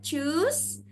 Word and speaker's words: Tschüss: Ya, jadi ini dibacanya Tschüss atau Ciao.